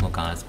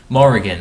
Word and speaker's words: Morrigan: It's not Morgana. It's not pronounced Morgana. It's very similar to Morgana. Morrigan.